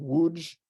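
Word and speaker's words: Łódź: this is a picture of the ghetto in woods Poland I know it looks like lots but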